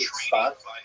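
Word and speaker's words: צפת: northern Israel city of Safed, pronounced in Hebrew Tzfat or Tzfat.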